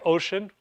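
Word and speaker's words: Wouxun: You have Ocean, which is spelled W-O-U-X-U-N, and that's pronounced Ocean. Pretty weird, right?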